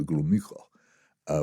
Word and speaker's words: Gromyko: And she tried pronouncing his name correctly. She called him Mr. Gromyko, which is the correct way of doing it.